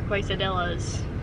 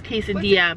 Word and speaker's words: quesadilla: to taco bell and ask for quasadillas and we know we're saying it wrong we're doing it on